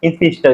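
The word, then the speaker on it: spinster: इंस्पिस्टर बोलते हैं। इंस्पिस्टर, इंस्पिस्टर। ठीक है, इंस्पिस्टर। इंस्पिस्टर भी हल्का सा एन में, बहुत ज्यादा नहीं, हल्का सा प्रोनाउंसिएशन होगा।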